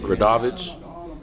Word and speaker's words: Gradovich: I can't even pronounce his last name. I'm not even. Gradovich.